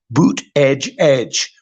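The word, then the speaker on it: Buttigieg: he said it twice boot Edge Edge that's how you say his name Pete boot Edge Edge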